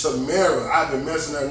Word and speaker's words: Tamara: And apparently it's Tamara.